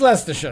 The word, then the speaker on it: Leicestershire: so so leicestershire um that's not how you pronounce that particular word but leicestershire it's it's less to show let's let's let's let's